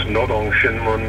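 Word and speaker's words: Rodong Sinmun: For reasons that are too complicated to explain right here, N's and R's are transliterated in a funny way from Korean language. It's pronounced Nodong Shinmun, meaning the workers, workers' daily, workers' paper.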